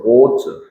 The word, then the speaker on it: 脖子: 우리 발음으로는 발이고, 중국어로는 보즈, 목이에요.